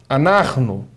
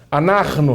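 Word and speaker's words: אנחנו: Anarno. Nós. Anarno. Diga anarno. Anarno. Repare bem. É importante eh destacar o seguinte, que no anarno nós temos uma pronúncia gultural bastante intensificada aqui, ó, por causa da consoante.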